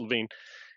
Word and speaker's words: Lewin: of the methodologies kurt levine we talked about in mhr and we talked about it in um organizing for change kurt it's spelled lewin but it's pronounced levine you know he describes